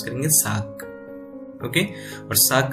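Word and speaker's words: 삯: तो जैसे कि मैंने एक वर्ड यहाँ पे डाला है तो हम यहाँ पे क्या इसे प्रोनाउंस करेंगे, साक।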